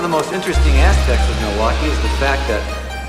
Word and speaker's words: Milwaukee: Do you come to Milwaukee often? actually is pronounced milwauke for the good land. I think one of the most interesting aspects of Milwaukee is the fact that it's the only major